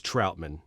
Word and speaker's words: Trautman: train that is adam troutman i know it's troutman i just like to say it like he's a superhero what is it trout